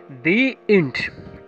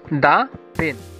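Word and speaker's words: the: প্রথমেই আসো, কোথায় দি উচ্চারণ হবে আর কোথায় দা উচ্চারণ হবে? দি ইন্ট, কিন্তু দা পেন।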